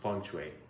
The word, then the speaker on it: feng shui: So feng shui is spelled like feng shui, but it's pronounced feng shui because Mandarin Chinese has like 5 pronunciations for E.